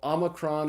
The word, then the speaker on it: omicron: vowel it's the Omicron so Omicron is pronounced like this short o in the English word not after Omicron comes P